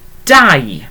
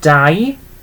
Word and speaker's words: dau: It's pronounced exactly the same as the name dau, okay, but spelt that little bit differently. So dau is 2, but it's pronounced as the name dau, just like that.